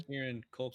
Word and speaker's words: Kieran Culkin: And tell me how to pronounce this guy's name again. Kieran? Kieran Culkin.